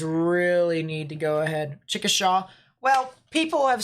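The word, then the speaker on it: Chickasha: the most part um that's how us Oklahoma pronounce it it's chicke right or no chicka Shaw okay chicka sha that makes sense no I'm not trying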